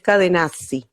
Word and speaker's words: Cadenazzi: Edgarda Cadenazzi, yo no sé si se pronuncia Cadenas. Cadenacci, creo que no, es Cadenazzi, con Ahí está.